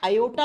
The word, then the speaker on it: aorta: इसको ओटा या आयोटा प्रोनाउंस करते हैं। ठीक है, प्रोनाउंसिएशन के समय R को साइलेंट कर देते हैं, आयोटा या ओटा।